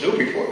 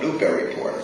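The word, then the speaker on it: Newburyport: people from Boston that knows how to pronounce the name of the city I said well it's new before isn't it yeah they come up here and they call it Newberry Port said well my mother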